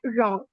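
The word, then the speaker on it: wrong: इसी तरह अगर मैं बात करूं डब्ल्यू की, तो when ever W comes before are, सो वी डू not pronounce W, as right and रॉन्ग।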